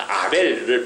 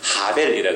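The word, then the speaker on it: הבל: 그 아벨을 발음을 좀 강하게 하면 하벨이라 그랬잖아요.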